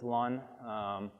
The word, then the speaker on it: Luhn: The Luhn algorithm, which maybe you pronounce it "Loon", I've been told it's Luhn.